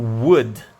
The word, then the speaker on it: would: aqui o Woody certo e sim esse WS o esse Uh tem meio que um sangue-puro então aí eu não pronuncie o tanto assim ou l certo e o de é bem marcante na pronúncia Então seria o Woody certinho e ele galera existe